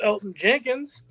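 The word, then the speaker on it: Elgton Jenkins: Minus Elton Jenkins. Silent G there Tay.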